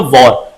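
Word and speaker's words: wore: युद्ध भी होता है, लेकिन यहां पर स्पेलिंग चेंज है और यहां पर जो प्रोनाउंसिएशन है, जो साउंड है, वो दोनों एक जैसे ही। वॉर यहां भी कहेंगे, वॉर यहां भी कहेंगे,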